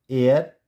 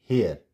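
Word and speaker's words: heir: एंड एयर नॉट हेयर, एयर।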